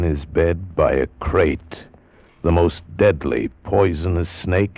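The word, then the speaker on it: krait: was and what kind of a snake a crate is first the crate you spell it k r AI T they're in India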